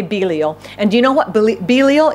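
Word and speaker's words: Belial: God's purposes what else is he this is pronounced in more than one way I say beo b e l i a l but some people say bile I say Belo and you know what Belo is one of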